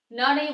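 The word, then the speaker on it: know: next sound is न नहीं बोलेंगे फिर वो व्यंजन बन जाएगा तो न तो इसके एग्जांपल नो नो के एन ओ डबल क साइलेंट है यहां पे तो न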